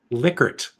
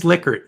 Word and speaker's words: Likert: Rensis Likert, the guy who invented the Likert scale. And it's and it is Likert, not Likert.